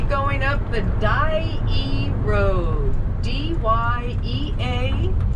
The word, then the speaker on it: Dyea: D-Y-E-A, pronounced Dyea.